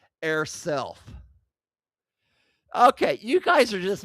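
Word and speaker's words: eirself: It is used to affirm a person's gender identity, often pronounced air self.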